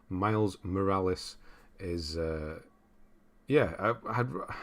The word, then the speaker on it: Miles Morales: there hello gundam uh miles more ass that's not how you say his name miles morales is uh yeah i